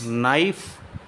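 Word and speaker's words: knife: कहां हो Singh Bhullar नाइफ लाइफ में के silent a नाइफ you know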